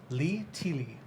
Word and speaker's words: Lee Tilly: Lee Teely? Is that how you pronounce it? The name is Lee Tilly. Lee. It is Li-Tilli.